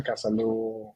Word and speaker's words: Casalú: beginning but for for the listeners out there kasalo which is our name stands for Casa which